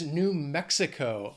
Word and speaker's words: New Mexico: Next is New Mexico. Four syllables. Again, the stress is on that first syllable of the second word. New Mexico. Mexico. New Mexico.